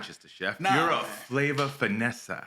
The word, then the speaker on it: Flava Finess'a: chef you're not just a chef you're a flavor finessa correct is that did I get that right yeah I love the pronunciation that you take your time it was